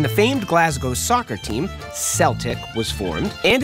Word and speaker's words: Celtic: In English, when the letter C is followed by an E, it's essentially always said like an S. Think, cement, cell phone, race, and dance.